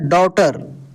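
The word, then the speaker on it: daughter: हैं क्या पढ़ रहे डॉटर जी एच यहां पर साइलेंट हो गया दोस्त जी एच का उच्चारण ही नहीं हुआ तो दोस्त एक नियम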